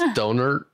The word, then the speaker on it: Dohnert: Like, he's probably going to hate me, but his last name kind of sounds like donut, but it's Dohnert.